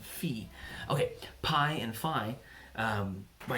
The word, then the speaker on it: phi: numbers like PI or fie fie I spend a degree in college it's actually pronounced P and fee okay PI and Phi